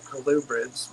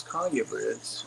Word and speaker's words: colubrid: Breads and I know some people pronounce that collubrids but I actually went on the sites where you can have the pronunciation said to you and it is Collier birds so um who cares